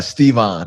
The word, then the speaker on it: Stevan: It's Stevan. I'm glad you asked it Stevan. that way too. Yeah, but I'm just saying, do you? Nope. Nope. But Stevan is a common mispronunciation. They make the E short.